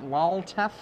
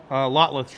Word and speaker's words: Lotleth: Lolteth. How do you say that? Lolteth? Lotleth Troll. Lotleth.